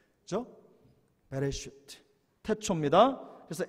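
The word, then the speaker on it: בראשית: 뭐라고 읽는다고 했습니까? 베레시트, 그죠? 베레시트.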